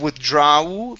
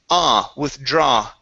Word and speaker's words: withdraw: Okay, so instead of withdraw, pronouncing an oo here, it's withdraw.